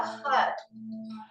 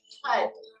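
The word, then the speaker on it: Har: okay it's the Mantra HUD it's spelled h a but we pronounce it like HUD h de okay this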